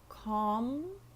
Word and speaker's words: calm: have cemetery again mmm calm and palm so the L is silent I am calm I